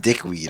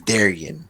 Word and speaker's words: Darian: the damn investigation dickweed it's not dickweed okay it's darian pronounce it properly or don't pronounce that at all holy